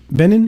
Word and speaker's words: Benin: amounting to about 500 billion these countries are Benin is that how you pronounce it Benin yeah bur B Ben Ben b b there